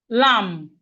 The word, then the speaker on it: lamb: We have lamb. Lamb. The B here is silent.